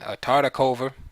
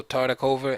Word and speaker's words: Tartakower: Tartakower and Tartakover, right? The W's are pronounced as V's in English, so Tartakover and Lasker, New York, 1924.